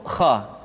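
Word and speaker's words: خ: Padahal huruf kha memiliki sifat al-isti'la. Ada sebuah kaidah, kulul musta'la al-mufakhmah. Semua huruf yang memiliki sifat al-isti'la mesti diucapkan dengan suara yang tebal. Perhatikan, diucapkan dengan suara yang tebal. Bauh, tidak bah, tapi bauh. Aukho, tidak akho.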